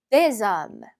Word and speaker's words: des hommes: homme, 남자 여러 명, des hommes. 자, 보시면 제가 지금 계속 리에종, 연음을 해서 읽고 있어요. 이 아니라 un homme처럼 n이 뒤로 붙었죠? 얘도 마찬가지로 s가 뒤로 붙으면서 마치 z처럼 발음 난다고 했어요.